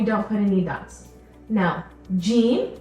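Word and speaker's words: ج: put any dots now Gene makes a sound and it's similar to the letter J in English or the sound J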